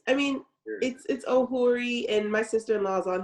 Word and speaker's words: Ohueri: Ohueri. do I say that right? Because I always call you just Dr. Ohueri Ohueri. Am I saying it correctly? Yeah, it's Ohueri, and my sister-in-law is on here too, and